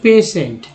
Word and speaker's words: patient: उच्चारण इसका भले ही आप ना समझें, लेकिन कुछ लोग समझ रहे हैं, तो सोचिए कि इसे हम लोग बोलते हैं पेशेंट। भला पेशेंट किस तरह से उसका उच्चारण होगा, पी से तो हो गया, पी ए से पे हो गया, मानते हैं, टी से ट भी हो गया, लेकिन स कहाँ है, तो दोस्तों टी आई जो है दोस्तों, इसे ही